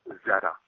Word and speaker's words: Xeta: Originally, and their home planet it's spelled Xeta, which is pronounced Zeta.